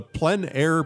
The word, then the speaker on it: plein air: Welcome to the Plein Air Podcast from Plein Air Magazine. I'm your host, Eric Rhoads, publisher and founder of Plein Air Magazine. In the Plein Air Podcast, we dive into the world of outdoor